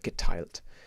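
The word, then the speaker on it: geteilt: de moda yeah good as a tricky word get tilt the th in german they never do the or the so it's just a t tilt yeah and morder almost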